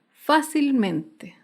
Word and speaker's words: fácilmente: Otro ejemplo es la palabra fácilmente. Fácilmente se acentúa en la sílaba anterior a la antepenúltima sílaba.